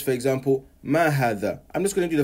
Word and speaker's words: هذا: One thing to also pay attention to is how is هذا pronounced and written. I write هذا like this, but I pronounce it like this. هذا. However, we don't write this.